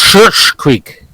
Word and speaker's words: Schitt's Creek: It's pronounced Schitt's Creek.